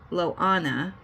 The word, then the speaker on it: Lana: It is Lana, like Moana, but with an L.